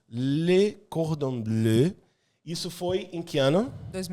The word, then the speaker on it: Le Cordon Bleu: Fala aí a pronúncia certa. Le Cordon Bleu. Le Cordon Bleu.